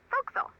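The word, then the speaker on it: forecastle: off why is that try pronouncing it like an English sailor with no formal education Oh Castle fo'c'sle over time it whittled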